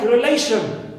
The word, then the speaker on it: relation: before right or also sh like relation so uh sh is the suffix so I stress the penate syllable just before it which is L clear l so these